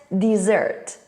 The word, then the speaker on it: dessert: confusing words is desert dessert what's hot because the spelling is different one s and 2 the vowel sound is also different e and the stress first syllable and second syllable desert dessert but what do these